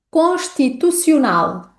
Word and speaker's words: constitucional: Que desafios é que nós podemos encontrar aqui nesta palavra? Bom, começamos com mais uma vogal naszal. A vogal naszal um. Além disso, temos uma repetição do som. Temos também a letra C, que antecede a vogal I.